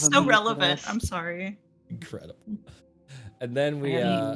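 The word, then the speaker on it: Sari: in a circus and sorry s a r i but pronounced like the word sorry uh who is remind I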